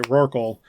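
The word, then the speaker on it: Rorqual: uh adjustments to the r wall um I'm the only one who says it that way roral that's the that's the way to say it like snorkel I guess um the so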